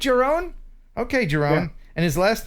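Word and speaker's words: Jeroen: next to each other his name is your your urine or urine not urine it's your own you're a je Greg you're a man of the world how do you say je r OE n Jeron is that right your own okay Jerome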